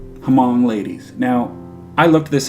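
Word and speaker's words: Hmong: I'm going to see, it's Hamong. Hamong. So I knew how to pronounce it. However, the title, and Fam wouldn't have known this, the title, Hamong Ladies, could get read as Mong or Hemong or something.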